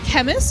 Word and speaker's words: Khemmis: it up one time it's chemist for sure chemist yeah chemist it's like it's like Nik Nike like I think the